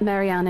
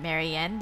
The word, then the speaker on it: Marianne: right should I let Mariana in then I guess Oh Marianne yeah that's her name Marianne the one you keep mispronouncing alright she's been waiting